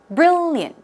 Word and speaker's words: brilliant: few more brilliant brilliant it's not brilliant not four syllables it's two syllables brilliant brilliant okay and it